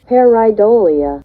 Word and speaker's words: pareidolia: And it's that last bit, not pronouncing it again, pareidolia, that could help explain away a lot of Bigfoot sightings.